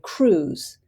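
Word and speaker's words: krewe: They're bought by crews, spelled with a K, K-R-E-W-E.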